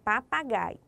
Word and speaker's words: papagaio: Qual foi a sílaba que você falou mais forte? É isso mesmo. Se você falou gai, está certo. Observe. Pa, pa, gaio. O gai se destaca entre as outras sílabas.